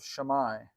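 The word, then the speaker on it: Shammai: of H or the school of shamai that's how you say it um you know Jesus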